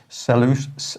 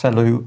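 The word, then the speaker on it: Selous: may care to get in contact with Mr salus it's got an s on the end but I'm told it's pronounced cellu s-e-l-o-u-s and ask him does he still have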